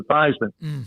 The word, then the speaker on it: Theismann: think by just simply changing the pronunciation of your last name from thieman to thyman we can help you